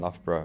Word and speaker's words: Loughborough: ello ugh is the first part which is love which is not how what you think is and then borrow at the end Loughborough which is you know